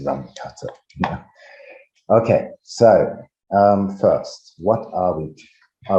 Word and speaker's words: Runge-Kutta: was to think about Runge-Kutta integrators, or I should say as a German, Runge-Kutta, but I think it's more common now to use the English pronunciation, so I would stick with Runge-Kutta.